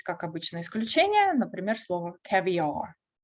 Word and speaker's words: caviar: Но у нас есть, как обычно, исключение, например, слово caviar. Caviar. Caviar. Ударение на первый.